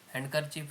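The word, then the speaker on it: handkerchief: fix answer objective type हैंडकरचिप रे हैंडकरचिप D silent थाए spacing space दे कि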